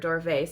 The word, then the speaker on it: duvet: when he heard it he heard it like d-o-r-v-a-y but really it's a French word duvet spelled like this and